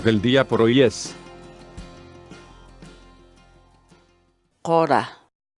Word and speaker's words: qora: de videos en la que te enseñamos a pronunciar algunas palabras en quechua Así que nuestra palabra del día por hoy es hora hora la palabra quechua Ora en español significa hierba